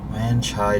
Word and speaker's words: Wan Chai: W-A-N, Wan Chai District.